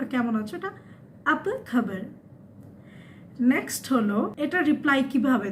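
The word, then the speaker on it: apa khabar: তো এটার উচ্চারণ হবে আপা খবর। আপা মানে কি, খবর মানে নিউজ। তো এটাকে ওরা বলে কেমন আছেন বা কেমন আছে, এটা আপা খবর।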